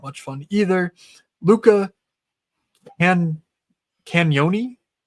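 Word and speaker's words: Cagnoni: Luca Canyoni. The G is silent.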